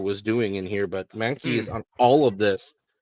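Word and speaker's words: Mahnke: So, he he sits here and he rides the dick of Blackest Night, but Doug Mani is the best way I can pronounce it.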